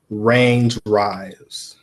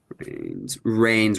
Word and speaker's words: Reign: I can't pronounce the name, and it was Range Rise. Range Rise. Range Rise. All right. REIGN. R E REIGN. Rains Rise.